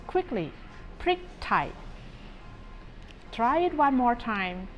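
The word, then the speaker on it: พริกไทย: in Thai it is one word with two syllables okay here it is prick Thai I don't think you have any problem saying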